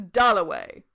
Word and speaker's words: Dalloway: wickham at last he said my name is dullaway that was his first view of richard a